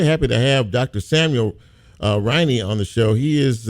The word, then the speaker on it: Riney: Is it Riney? Did I pronounce it right?